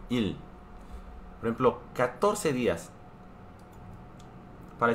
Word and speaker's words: 일: Para indicar días se dice il. Il. Pronuncia igual que número 1, il.